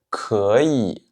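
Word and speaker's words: 可以: Petite particularité ici, vous voyez qu'on a deux fois le troisième ton, donc 可, et puis yi. Mais quand je prononce le mot en lui-même, d'un seul coup, je ne vais pas dire 可以, je dis 可以, 可以.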